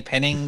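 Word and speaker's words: Penningh: So Penning with a H on the end because the H is silent and everyone forgets it.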